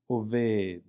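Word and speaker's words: אובד: We also see it representing the vowel sound a, as in oved, kind of like in the English word obey, right? The E in the English word obey. Oved, oved.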